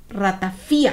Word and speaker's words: ratafía: ratafia pero en esta en este libro había acento en la i entonces dije ay yo creo que toda la vida lo he dicho mal no lo modificaron porque se le conoce como ratafia Sí y bueno muchos